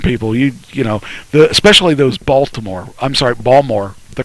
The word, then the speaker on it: Baltimore: You know, especially those Baltimore. They're called Baltimore people. Those people just Bombers? No, Baltimore. Bombers. Balmer. Balmer. Say it right, Balmer.